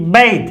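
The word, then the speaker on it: bathe: लेकिन ये बात नहीं है, ये बैध है। बैध, बैध, AE, बैध, बैध। तो हमने क्या लिखा है? टीएच को दे लिखा है, थे नहीं लिखा, क्योंकि ये वर्ब है, स्नान करना वर्ब है।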